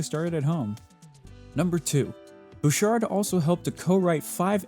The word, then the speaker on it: Bouchard: Lauren book card bookard butchered Bouchard is it butchered well regardless I definitely butchered that name Bouchard Bouchard Okay Google says that it's Bouchard so that's what I'm gonna go with Bouchard decided to make Bob's